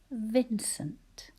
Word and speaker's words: Vincent: Vincent. And we tend to say sunt. That's one of those syllables that we don't really pronounce all the vowels in.